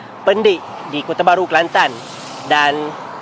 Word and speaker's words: Pendek: Baca betul-betul, bukan pendek ya. Sebenarnya cara baca yang betul ialah Pendik di Kota Baru, Kelantan.